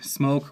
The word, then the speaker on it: Smok: As you can see, as you can see, smoke or smok depending on your pronunciation and uh serial codes, things like that.